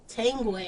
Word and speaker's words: Tanguay: Tanguay.